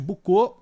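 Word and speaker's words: Boucault: Bucô se escreve B O U C A U L T.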